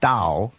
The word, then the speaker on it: Tao: So in the end, it's pronounced Dao and actually written Tao with a T.